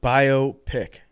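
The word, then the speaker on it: biopic: on your balls uh Hank says that it's pronounced bio pick that's that's not good that makes me think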